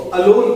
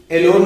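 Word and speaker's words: alone: इसको अलोन पढ़ेंगे, अलोन, एलोन नहीं पढ़ते। बहुत सारे स्टूडेंट क्या करते हैं, एलोन पढ़ने लगते हैं। एलोन नहीं है, ये अलोन उसे पढ़ा जाएगा।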